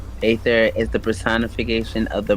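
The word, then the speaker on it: Aether: aier ather or ather ancient god pronounced ather is the personification of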